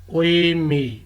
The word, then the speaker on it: 의미: Double vowel है उई, ये वर्ड का फर्स्ट सेलिबल हो तो ये प्रोनाउंस होता है एज ए उई, और अगर सेलिबल में इससे पहले कॉन्सोनेंट आए तो ये प्रोनाउंस होता है एज ए ई।